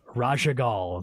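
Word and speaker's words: Raszagal: that you're gonna be forging ultimate for is Raja Gul did I say that correctly mystic yeah perfect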